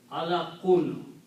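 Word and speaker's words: عَلَقٌ: The noun is alaqun. Okay. Remember that all the nouns always end up with two dhammas, the sound of noon.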